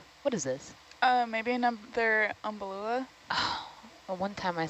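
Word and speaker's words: Umbellula: Maybe another umbalula.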